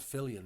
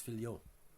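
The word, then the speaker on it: Fillion: And by the way, it's not Fillian. It's Fion.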